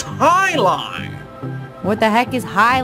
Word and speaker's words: jai alai: the bellows bloodhounds heck jai alai it's pronounced high-low what the heck is